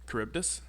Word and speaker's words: Charybdis: So So that's how you lots pronounce of his name. Charybdis.